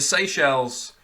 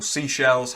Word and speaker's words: Seychelles: having having all of it really um the seychelles or seashells however you'd prefer to pronounce it um committing a lot of fouls